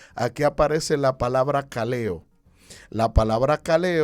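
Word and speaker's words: καλέω: mente proviene de un vocablo griego que se pronuncia cale o la palabra cale o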